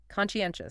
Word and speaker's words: conscientious: Okay, number 8, conscientious. Conscientious, stress. That's a conscientious. Stress on the third syllable in 4 syllables again.